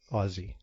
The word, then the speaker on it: Aussie: Aussie, okay. Aussie, yeah, like Okay. with a Z. Right, with a Z, she says.